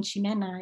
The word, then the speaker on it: Ximena: ch um and so the way even that i pronounce my name shinena is more of an indigenous um twist to that and so we were